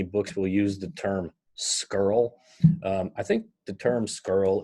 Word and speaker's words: scurl: okay so and again this is pronounced skirl or scaler girl so this is a